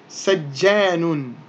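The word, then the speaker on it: سجان: Okay, now because we're reciting this or we're reading this word in isolation, then we wouldn't need to pronounce those ending diacritical marks. So we would simply say sajjan.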